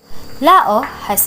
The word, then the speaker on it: Laos: Kong are three beauties of the Mekong River Lao has a climate governance by munsons with